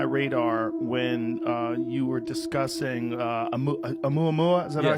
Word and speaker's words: Oumuamua: Oh, You came on my radar when you were discussing Oumuamua. Is that Yes, what I said? that's the right. Oumuamua, which is an object that we detected in